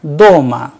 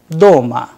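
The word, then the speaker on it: дома: For example, in the word doma, doma, which means at home, the vowel sound o is pronounced with a greater force, doma.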